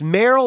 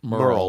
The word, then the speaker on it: Meryl: backup with Meryl it's Meryl or Merle it's spelled like it should be Meryl but he pronounced it Merle like I used for